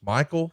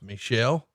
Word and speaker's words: Michel: you look at it would look like it would be pronounced Michael, but in fact I believe it's pronounced Michelle, called and told him a wrestler had been injured and a replacement was needed.